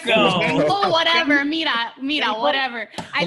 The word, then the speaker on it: Cuoco: Tony's a huge Young Sheldon fan, so Look, Kaylee Kuko. Nobody knew. who she- Cuoco? What? How do you say it? Like, Cuoco.